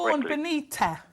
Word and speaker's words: Siobhan Benita: I never pronounced her name quite correctly. Siobhan Benita.